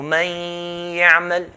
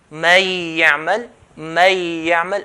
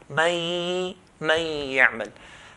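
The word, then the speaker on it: من يعمل: So ya is going to be pronounced with the ghunna. So man ya'mal, man ya'mal. If I were to recite like this, man ya'mal, I'm not doing the ghunna. So this is the wrong way of doing idgham. When we pronounce the ya, we have to pronounce it with a nasalization sound that comes from the nose.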